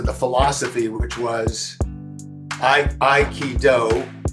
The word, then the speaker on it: Aikido: But I also was very attracted to the philosophy which was I I key do three Japanese syllables.